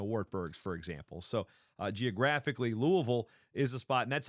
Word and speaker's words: Louisville: So geographically, Louisville is a spot, and that's how you say it when you're down there. It's not Louisville, it's Louisville, right, Glenn?